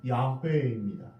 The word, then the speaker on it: 야훼: 원래 발음은 야훼입니다.